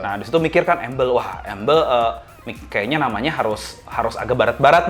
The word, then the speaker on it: Amble: Tapi kalau embel teh karena tulisannya AMBLE, ada juga yang apa ini tuh dibacanya amble.